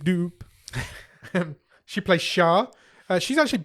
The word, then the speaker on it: Doupe: a girl called Hazel dupy or how you say how are you pronouncing that d d o u p e dup dup dup doop she plays sha she's